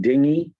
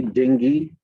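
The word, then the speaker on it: dinghy: Scrolling ahead, page 28, line 40, just making sure that we pronounce it dingy. Dingy. You can also hit it with hard G, dingy.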